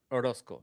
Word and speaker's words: Orosco: Orosco. Yeah. Like Rosco.